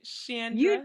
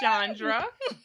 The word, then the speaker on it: Chandra: yes and you see i even said it right shannon not chandra you have i mean